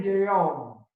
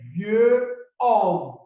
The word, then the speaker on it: vieil homme: There is liaison over here, so this sentence is pronounced un vieil homme. So you realize that we didn't say un vieux homme.